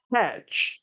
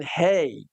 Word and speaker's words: Khamenei: 年死亡；第二任呢，Hajj 哦，不好意思啊，这個讀音又不正確了。This is Almighty 說要念 Hajj，麥加朝覲。